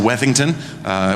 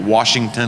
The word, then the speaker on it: Wethington: That's that's first of all cuz I'm My last name is actually Wethington. Which seems easy, Wethington, but I get Washington and Wellington and Lichtenstein.